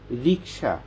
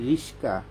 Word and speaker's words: রিক্সা: তাই আমি বললাম যে আপনি অনার্স মাস্টার্স কমপ্লিট করছেন, রিক্সা বানান করেন কয়সা না শয় ক? যদি কয়সা হয় তাহলে উচ্চারণটা কি হবে? রিক্সা। আর আপনি বলছেন রিস্কা, তা আপনি তো এই জায়গায় ক্যান্সেল।